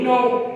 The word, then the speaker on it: know: इसी तरह अब है KNOW नो। अब देखिए एक में के आ रहा है, एक में के नहीं आ रहा।